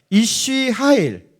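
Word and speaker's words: אִישׁ חַיִל: 이시 하일. 자, 남자는 이시예요. 여자는 이시하고. 이시야 이시. 헷갈리죠? 이거 뭐 이렇게 헷갈리게 이렇게 다 발음을 했는지.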